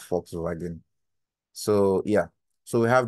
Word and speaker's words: Volkswagen: Toyota Honda and Volkswagen is not volx region is actually pronounced Fox wagen so yeah so we